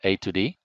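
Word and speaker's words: A/D: A slash D, we normally pronounce that A to D.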